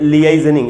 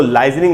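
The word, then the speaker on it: liaisoning: लिएजनिंग ये इसकी स्पेलिंग है, और पढ़ेंगे लिएजनिंग, इसको लाइजनिंग नहीं पढ़ना चाहिए, गलत उच्चारण।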